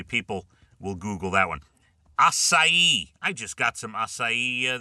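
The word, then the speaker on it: açaí: Acai. I just got some acai the other day for my kids. Strawberry acai at Starbucks. Yes. Asai. A c ai. You know it's asai, right?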